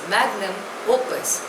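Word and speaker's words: magnum opus: lingua Franca of India the next word is मैग्नम ओपस spelling is एम ए जीी एन यू एम ओ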